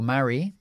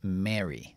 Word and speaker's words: marry: también por ejemplo casarse yo digo marry Ellos dicen Mary Mary Pero bueno Ahí está okay Para que tengáis las dos pronunciaciones y elegís lo que